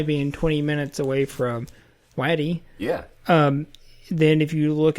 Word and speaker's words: Waddy: I don't know how you pronounce Waddy any other way besides Waddy. I think that sounds pretty Kentucky.